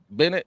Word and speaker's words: Bennet: have a w in there somewhere yeah I pronounce that right Bennett oh you nailed it no there we go